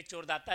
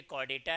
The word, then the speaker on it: Chordata: कॉडेटा यह जो नाम पड़ा है ना अच्छा कुछ बच्चे इसको बड़ा अच्छा प्रोनाउंसिएशन भी करते हैं। चोरदाता यह चोरदाता भी बोलते हैं। यह चोरदाता नहीं है। यह कॉर्डेटा है।